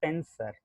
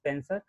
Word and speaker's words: penser: So the first one is, as you see, in English you will pronounce as penser, but it's not pronounced as penser, it's pense. It's pense, and it's called to think.